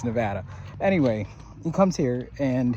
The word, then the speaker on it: Nevada: And that's how you say it. It's Nevada, not Nevada. Okay?